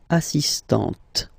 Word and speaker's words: assistante: So don't pronounce the final T here, but for the feminine form, elle est assistante.